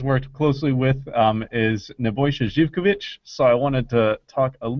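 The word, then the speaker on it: Živković: It's not pronounced Zivkovic, even though it's spelled with a Z. It's Zivkovic.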